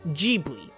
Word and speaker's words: Ghibli: but in Japanese the ghi is pronounced with a soft G being gbly technically it's a mistake on miyazaki's part but in case that you want to refer to the Japanese animation studio the right way to say it is gbi but even if you say G I'll get what you mean I'm not going